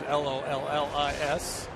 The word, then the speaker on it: Lollis: pronounced like Tom. You may remember him, former big leaguer, but this is Lollis.